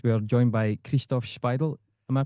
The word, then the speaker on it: Szpajdel: We are joined by Kristoff Spidel. Am I pronouncing your name okay? Yes. Spidel.